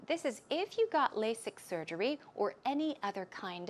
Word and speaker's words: LASIK: about that as well the pronunciation of LASIK here is lay sick it's not a Z but rather S sound okay the strong s LASIK LASIK LASIK surgery when did you